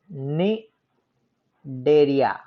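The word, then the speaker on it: Cnidaria: निडेरिया, सी silent है, निडेरिया।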